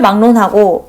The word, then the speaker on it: 막론: 그때 막론이라는 것이 어떻게 발음이 되냐면요. 최종 발음용을 먼저 쓸게요. 막론 이런 식으로 발음이 됩니다. 그러면 여기서 이제 탐구점이 생기죠. 기억이라는 종성과 리을이라는 초성이 지금 어떻게 바뀌었어요? 이응과 니은으로 바뀌었죠. 기억, 리을이 완전하게 바뀌어서 이응, 니은이 됩니다.